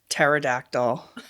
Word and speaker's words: pterodactyl: And so he goes around and he's like pterodactyl. Oh, Harvard. P. Harvard. P. Definitely doesn't start with a T. It's a silent silent P on that one.